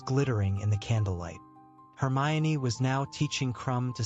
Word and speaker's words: Hermione: Hermione was now teaching Crumb to say her name properly. He kept calling her Hermon.